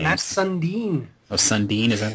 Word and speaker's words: Sundin: Oh, Sundin, is that how you say it? Yeah, Mats Sundin.